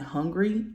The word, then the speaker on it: Hungary: in like Russia and Hungary I'm not hungry Hungary that's how you say it all right so um